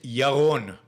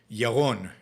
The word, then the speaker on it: Jeroen: true it's absolutely true because my name is jeroen my name is yaron yaron yolon but i don't expect